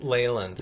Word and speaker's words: Leyland: But when you see an unhealthy Leyland, is it Leland or Leyland? How do you pronounce it? I don't even... Leyland.